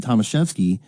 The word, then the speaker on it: Tomaszewski: I wasn't taught Tomaszewski. It was said Tomaszewski.